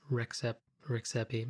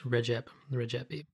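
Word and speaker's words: Rexhepi: show was published that I had incorrectly pronounced the name of the founder of Akrivia as Rexepi. It turns out it would be pronounced, and I'm probably going to butcher this as well if you speak Albanian, but I was told it's Regepi. So my apologies, Recep.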